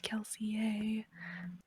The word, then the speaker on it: Kelsier: for context, in case anyone doesn't know who's listening, is that Kelsier's name was originally supposed to be pronounced Kelsié, as Brandon has said, because it's supposed to be French, but absolutely no one